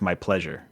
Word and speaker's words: MIPLEZUR: It's spelled MIPLEZUR. If you just sound that out phonetically, it's my pleasure.